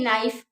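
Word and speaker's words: knife: जैसे कि नाइफ, ठीक है, होता तो के से शुरू है बट उसे हम बोलते हैं नाइफ।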